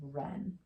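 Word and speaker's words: wren: very small bird okay ren so again quiet when you see the wr w is quiet all right now let's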